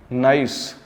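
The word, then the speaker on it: gneiss: और ये जी से लिखा है, जी में साइलेंट है, ठीक है। नाइस, ठीक है, ये भी NEIC, नाइस, is form by the metamorphosis of limestone.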